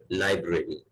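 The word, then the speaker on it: library: जो इसका एक स्टैंडर्ड प्रोनाउंसिएशन है वो है लाइब्रेरी.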